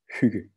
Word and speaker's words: Hygge: I know it's difficult to pronounce, but it's pronounced Hygge.